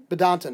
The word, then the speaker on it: Badinter: Badinton. Okay, Badinton. It's spelled like Badinton.